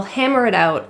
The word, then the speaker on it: hammer it out: discuss the policy, they'll hammer it out and come up with a good agreement. It is actually pronounced as a flap T or a quick D sound because it's surrounded by vowels.